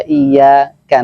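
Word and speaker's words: إِيَّاكَ: Iyyaka itu ada tasdid, berarti karena jumhur ulama menyatakan bahwa ketika tidak ditasdidkan maka itu adalah termasuk kesalahan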